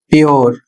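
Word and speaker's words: pure: इसमें नियम है जब किसी शब्द में यू के बाद आर ई आता है तो वहां पर यू का जो उच्चारण है वह यो जाता है।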